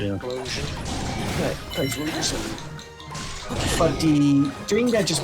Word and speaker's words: Typhlosion: It's like Explosion, the way I try to pronounce it. Typhlosion or something like that. Right, yeah. Explosion. Yeah, Typhlosion.